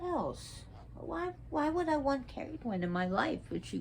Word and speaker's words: Cerridwen: Now, some people pronounce her name Cerridwen. That's not, because they're pronouncing the C as a cell instead of K, like in cat. But it's Cerridwen.